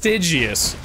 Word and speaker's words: Stygius: Which is pronounced Stygius.